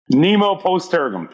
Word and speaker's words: Nemo Post Tergum: Nemo Post Tergum. Tergum. There we go. Absolutely. And if you translate that beyond my lousy pronunciation, no one is left behind.